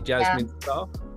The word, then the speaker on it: Jasmin Starre: songwriter Jasmine star yeah did I did I pronounce that correctly Jasmine star yeah great wonderful well hello Jasmine how are